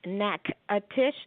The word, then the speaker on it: Natchitoches: we the pronunciation is n ACK ATIS H neck a Tisch but we have to spell it out on everything we print on everything